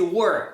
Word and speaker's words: were: Esse were que é were.